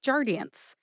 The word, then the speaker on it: Jardiance: brand name which is jardian jardian has three syllables jar like a jar of honey D like the letter in the alphabet d and n like